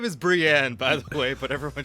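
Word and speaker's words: Br'yan: about Brian uh and then her name is Brienne by the way but everyone just calls her Brian well it's spelled BR apostrophe y-a-n so and then lastly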